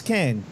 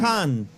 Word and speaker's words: Cannes: The rule to pronounce it correctly, it's as if you're about to pronounce the worst rude word that you could possibly say, but you stop yourself just before you hit the T. Okay? So, cunt. Cannes.